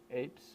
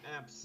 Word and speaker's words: aepps: Well, we call them apps, Yeah. but it's really uh, it's really it's apps, but we write it with Yeah, yeah, with AE. AE Yeah, apps in the front.